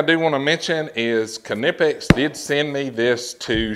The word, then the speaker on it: Knipex: have it it's pronounced canipix so we can put all the myths to bed about having a silent k and this and this